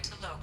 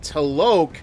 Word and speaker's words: T'Loak: However, given the reputation of Ardat Yakshi among the Asari, Arya T'Loak may have tracked her movements. Thank you. Oh, T'Loak? I've been pronouncing it as T-Loak this whole time.